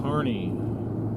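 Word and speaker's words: Kearney: Carney is the correct pronunciation.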